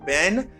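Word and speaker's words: been: um for past participle you say ben some people say bin you can say bin you can say ben that means be was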